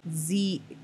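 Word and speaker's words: xe: the th you have z i'm i tend to mispronounce this one because it's with an x but it's z or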